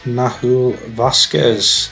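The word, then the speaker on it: Nahuel Vásquez: saw but never mind and we're looking at nahul Vasquez that's how you pronounce it who just looks a really good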